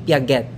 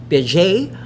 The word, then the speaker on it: Piaget: pag kuwan pag bigkas It's Jean PJ because naturally it's French it's not Jean Piaget again John Piaj so